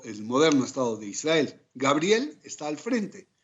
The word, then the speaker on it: Gabriel: Ya entrando en nuestro tema de onomástica, pues son Miguel o Mijael en hebreo, Gabriel, que se pronuncian de igual manera en español y en hebreo, Uriel, de igual suerte, y Rafael.